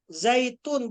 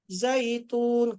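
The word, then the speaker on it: زيتون: Wattini wazzaitun. Pakai zai. Ini seringkali terjadi kesalahan ini. Sering terbaca zal. Zai dengan zal itu berbeda ya nak. Coba perhatikan lagi. Wattini wazzaitun. Zaitun bukan pakai to ya. Zaitun.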